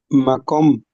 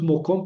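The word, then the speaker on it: מָקוֹם: Eh, Jerónimo, sí, Macom. Macomo, no es Mocón. Porque esta sílaba es abierta, ma con. Entonces, si es sílaba abierta, ya no cumple con un requisito para que sea cametatuf. Entonces, macom es una palabra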